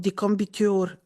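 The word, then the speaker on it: decumbiture: This is something called decombiture. Like, it sounds like confiture, but it's not confiture.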